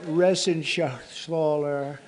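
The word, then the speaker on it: Reschenthaler: shaal you know that Ren sh sler he's uh that's actually the way you pronounce it you know nobody else gets it right I got it right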